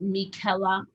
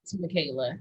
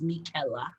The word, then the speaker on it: Michela: your full name so my full name is pronounced michela okay not michaela to be that is mickela and um so when